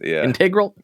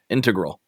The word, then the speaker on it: integral: Integral. I didn't say that right. Integral. There we go. That's the word. That's how you say it.